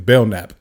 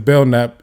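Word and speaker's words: Belknap: k naap but I'm I'm assuming like with a lot of European names there's a silent letter somewhere so that K is silent his detective bellnap or investigator bellnap so the anyway so he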